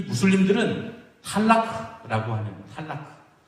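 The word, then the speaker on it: طلاق: 그런데 이 무슬림들은 탈락라고 하는 탈락, 실제로 발음할 때는 탈라라고 발음한다 그래요. 그리고 이제 영어로 발음하면 탈락.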